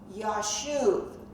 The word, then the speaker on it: Yashuv: So Yashub is pronounced as Yashuv, Y-A-S-H-U-V. And you will see that name in Numbers 26-24.